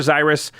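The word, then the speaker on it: Xyris: is that's a pronouncing I'm gonna say Cyrus like Cyrus but Cyrus what do you think I'm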